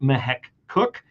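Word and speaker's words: Mahek Cooke: Follow her on Twitter at Mahek Cook. And that is spelled MEHEK.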